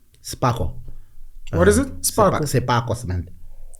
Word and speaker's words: Sepako: Sepako cement. It's Sparko. Sepako, S-E. That's how you pronounce it, Sparko.